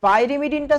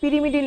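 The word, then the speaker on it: pyrimidine: পিরিমিডিন লেখা ছিল তাহলে এই যে আপনি বলছেন পাইরেমিডিন এই উচ্চারণটা এরকম কেন বলছেন? এটা হচ্ছে ইংলিশের যে প্রোনাউন্সিয়েশনটা সেটা কিন্তু পাইমিডিনই হয়। কিন্তু আমরা বাঙালিরা এই বানানটাকে কেন জানি না পিরিমিডিন লিখে ফেলেছি।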